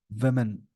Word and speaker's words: women: वेमेन, इसको वेमेन बोलते हैं, प्लूरल को बोलते हैं वेमेन। और जब ये सिंगुलर फॉर्म में हो, इसका प्रोनाउंसिएशन हो जाता है वुमेन।